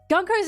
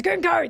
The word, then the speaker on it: Gunko: Gunkko's outfit. Go's outfit again. It's He's a pervert. He wants to draw ass. Her name is Gunko. That's how you say it, not Gunkko.